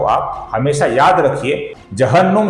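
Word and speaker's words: जह्नु: जहन्नुम शब्द में कैसा ह पहले आता है न बाद में आता है। उसको आप याद रखिए और इसका उच्चारण सही तरीके से कीजिए।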